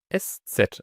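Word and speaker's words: ß: توس كده اس ستر الحرف ده اسمه ستر وده ببساطه سين ده يعني هو اس اس تخيل كده اتنين اس جنب بعض فهتبقى اس ست اسمها كده وبتتنطق في الكلام اس عاديه زي مثلا كلمه شراس او شباس دي الاس اللي في اخر دي كلمه مثلا شباس هي عباره عن اس ست هي في اخرها حرف دوت فهي عباره عن اس يعني في الكلام نراجع تاني الحرف ده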